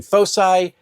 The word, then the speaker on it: foci: In addition to the new descriptors, Rust and Redemption also adds 5 new foci. Yes, that is a legitimate and valid pronunciation of that word.